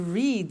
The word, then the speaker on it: read: Now, read and read are written exactly the same, but the pronunciation changes in the past tense.